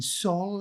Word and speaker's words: Saul: We have the scene between Saul, is that the correct pronunciation?